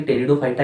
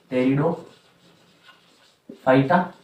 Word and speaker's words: टेरिडोफाइटा: तो आप जो है टॉपिक डाल सकते हैं, टेरिडोफाइटा। पी से इसको स्टार्ट करते हैं। पी यहाँ पे जो है साइलेंट होता है, मैं यहाँ पे हिंदी में भी लिख देता हूँ, टेरिडोफाइटा।